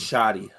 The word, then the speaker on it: Schutte: I never know how to It's pronounce. shoddy.